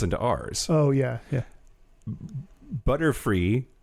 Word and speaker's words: Butterfree: Butterfree, if you pronounce butterfly, turn the L into an R and mispronounce the Y as an E, because Y makes an E sound sometimes. It's just butterfly in a fucked up Japanese way.